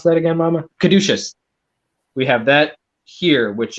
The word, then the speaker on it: Caduceus: How do you pronounce that again, Mama? Caduceus.